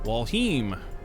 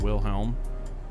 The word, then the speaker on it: Walheim: Walheim. I was pronouncing it wrong. It's not Wilhelm. It's Walheim.